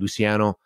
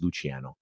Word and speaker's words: Luciano: it was a nurse she called me she said Luciano I came to her I said uh thank you uh my name is pronounced this is the way I said it too it's probably the way I said I said my name is really pronounced luchano she looks down at